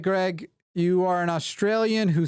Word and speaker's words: Greig: I think the name is pronounced Greg if it's spelled right in here I've got